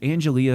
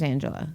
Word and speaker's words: Angela: is it Angelia or Angela? Which one? Walker, Angela Walker. Yeah. Yeah, It's like so she it's spelled says Angelia. correct, right? and her mom calls her Angelia, but she prefers Angela.